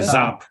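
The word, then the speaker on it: Saab: pronounce it what's up so we say zap in germany uh and interestingly the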